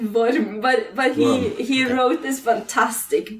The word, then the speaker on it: Worm: But we always hesitate to how to pronounce his name. Yeah, it's Worm.